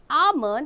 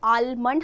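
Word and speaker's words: almond: हैं know the fact आमंड इ pronounced S आमंड listen इसमें एल आपका साइलेंट है आलमंड हम इसे प्रोनाउंस नहीं करते आमंड एंड पिस्ट चियो एस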